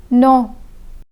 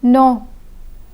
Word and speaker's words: non: Minimum, non. Minimum, non. The M in minimum is pronounced, but the M in non is silent.